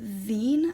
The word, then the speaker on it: zine: was concepting for these things called uh zine i think that's how they're pronounced so i took this